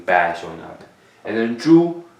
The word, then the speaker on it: 猪: So this part here is called 猪, and then that is how this word is pronounced, 猪.